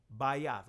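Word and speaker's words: בית: household mean all right by us or by yes by assistant modern pronunciation but by off that's what I'm going to stick to the ancient pronunciation by yacht it means a house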